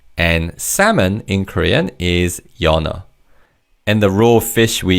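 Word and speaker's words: 연어: In terms of pronunciation, because the second syllable begins with an theim in the first syllable carries over to the second syllable. So this word is pronounced as yana.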